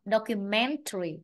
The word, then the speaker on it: documentary: Nếu mà không có tari đằng sau ấy, chỉ gọi là tài liệu ấy, thì ta phải đọc là document, document. Nhưng mà thêm tari rồi thì trọng âm nó thì bị thay đổi, nên ta phải đọc là documentary, documentary.